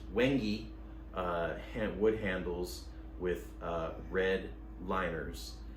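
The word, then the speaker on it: wenge: This one is made out of AEBL with, it's pronounced Wengi, wood handles with red liners, polished 1/4-inch pins as well.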